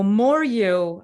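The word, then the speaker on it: MOARU: love it it's always frantic always branded so more you i actually spell it m-o-a-r-u and that happened because of uh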